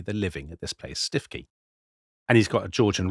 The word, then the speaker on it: Stiffkey: called stookie blues but the people of the area call the place stiffy.